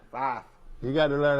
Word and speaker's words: Fife: Five. It's not five, it's five. Fife.